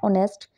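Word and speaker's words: honest: से for example and ऑनेस्ट एंड र एटस ठीक है यहां पे एच जो है साइलेंट है और यहां पे भी एच साइलेंट है ऑनेस्ट के अंदर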